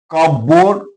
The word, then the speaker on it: cupboard: Cupboard, P is silent here.